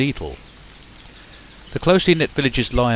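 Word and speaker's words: Etal: for Ford and eel or as locals pronounced the two Villages Ford and eel the closely knit Villages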